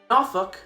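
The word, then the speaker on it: Norfolk: tons of ships for the United States Navy nuk that's how it's pronounced is the only Virginia City with a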